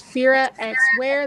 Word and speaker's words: Fira X Wear: But if you want to find it by itself, it's Fira X Wear. The X is silent.